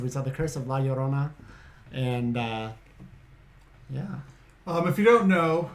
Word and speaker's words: La Llorona: So like if kids misbehave, La Llorona will come get them. Yeah. You gotta say it like that too, or else she'll come and get you. For not saying her name right.